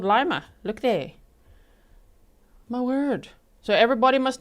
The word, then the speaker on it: Lima: That seems to be the way the locals say. They don't say Lima. From the news clips I've seen, they say Lima, Montana.